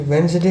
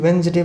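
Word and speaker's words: Wednesday: Sunday Monday ट्यूसडे, फिर वेंसडे इसको बोलते हैं, वेडनेसडे लिखते हैं लेकिन वेंसडे बोलते हैं, वेंसडे, थर्सडे, फ्राइडे, सैटरडे।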